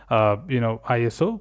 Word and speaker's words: ISO: for Standardization, but actually it is IOS, pronounced as ISO, but it was initially declared as International Organization for Standardization.